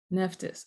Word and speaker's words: Nephthys: Her name is Nephthys. Nephthys, and I'm giving you Greek names because those